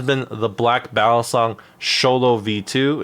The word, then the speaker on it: Xolo: the black battle song sholo V2 it's spelled x o l o um but I know it's pronounced sholo because it's based off